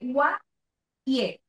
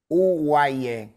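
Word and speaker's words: UWAIE: Hablemos entonces ahora de Guaye. ¿Qué es Guaye? ¿Lo pronuncié bien? Uguaye.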